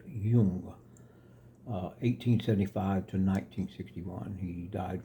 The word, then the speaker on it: Jung: It's spelled Jung, but it's pronounced Jung. The J is not Jung like it looks like Sung Jung. It's Jung.